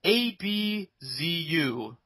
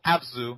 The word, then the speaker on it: Abzu: Game's name is called a b z u and or absu it's called absu you gotta say it like that abzu um absolutely yeah um